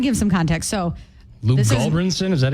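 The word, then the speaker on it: Gulbranson: So, Luke Goldbranson, is that how you say him?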